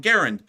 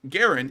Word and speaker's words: Garand: and it's actually supposed to be pronounced Garand but anyways moving on from that it's not a clip that feeds a M1 Garen it's an in Block